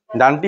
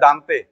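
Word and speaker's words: Dante: English sir writer ঠিক আছে ডেন্ট বা ডান্টি ডান্টি হচ্ছে উচ্চারণটা কি হয় ডান্টি হয় না ডেন্ট বা বাংলায় বলা হয় দানতে দানতে ইতালিয় কবি দানতে আলগিরি আলীগিরি তাকে ফাদার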